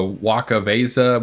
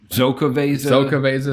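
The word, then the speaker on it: Xocoveza: I'm going to say it wrong, but the Waka Vesa, which is their it's like a cocoa nib, ancho chili, imperial stout. Zokaveza, there you go. Wakaveza, Yeah. Excaveza.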